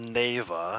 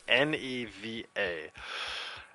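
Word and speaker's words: Neva: the game is called Nava and I didn't know how to pronounce it for a long time till until I finally played it it's neeva it's about this the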